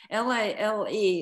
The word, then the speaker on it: Lale: Can you go back to how you were introduced And first of all, would you tell me how you pronounce his name? L A L E is the way it's spelled in the book.